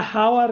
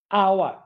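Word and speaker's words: hour: ও ইউ আর, হাওয়ার কি না হাওয়ার না আওয়ার। তার মানে এইচ যখন এইচ এর মতো উচ্চারণ না করে শিক্ষার্থীরা তখন হয় এন। এটাই হচ্ছে কাহিনী। যেমন এটা হচ্ছে অনারারি, হ আসে নাই, তাহলে এন। অনারেবল, অনারেবল, হ আসে নাই, তার মানে এন।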